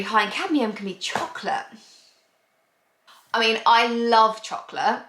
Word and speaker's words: Chocolat: I always say chocolate, but it's chocolat. I know you meant to say it like that or something.